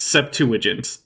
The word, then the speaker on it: Septuagint: In case anyone doesn't know, the way you pronounce LXX in this context is just Septuagint.